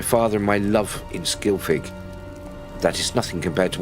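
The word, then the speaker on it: Scylfig: That's how it's pronounced, Skilfig, not With him Skilfig.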